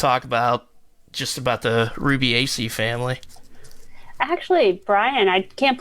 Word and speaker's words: Rubiaceae: Rubiaceae. I keep saying Rubica as I read it, and then I looked it up, and I didn't memorize how to pronounce it. But Rubiaceae. So, and you talked about